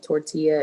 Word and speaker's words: tortilla: Tortilla. So a lot of people don't pronounce the double L because they don't know that in Spanish you have to pronounce the two letters, but it's tortilla. So next time, are you